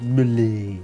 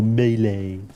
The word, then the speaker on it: melee: It is pronounced male or melee, I know, but Johnny J. Apples Seed pronounces it, and it's really funny. Uh, so I always try and pronounce it Millie now because if he's